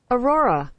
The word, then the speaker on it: aurora: 이 짧은 발음에 혀가 3번 들어가는 것이 이 오로라입니다. 그래서 여러분들이 이 발음을 원어민의 발음을 듣고 연습을 해보겠습니다. Aurora, 자, 여러분들이 방금 들으신 대로 발음이 쉽지 않아요.